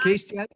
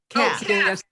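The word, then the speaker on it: Caste: good have you read casey wilkerson have i read who cased by uh isabelle wilkerson cast not case this doesn't rhyme with paste cast no i have not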